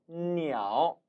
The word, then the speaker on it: 鸟: 반면에 이 글자는 특이하게 세조, 지읒자음인데 중국어는 엉뚱하게 니아오, 니아오, 니은 발음이 난다는 거예요.